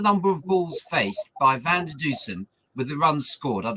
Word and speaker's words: Van der Dussen: I mean, Van Newson, sorry, I can never pronounce his name. You know what I mean? Van der Dussen.